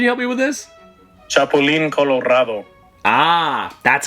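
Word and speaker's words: Chapulín Colorado: um Alejandra can you help me with this chapolin Colorado Ah that's how you say it and then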